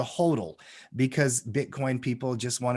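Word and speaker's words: HODL: they call them Hodor h o DL is how they spell it oh okay specifically they do that on purpose they call it a hodal because Bitcoin people just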